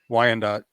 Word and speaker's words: Wyandotte: missing from how do you say that why Wyandotte okay thank you County cos went missing December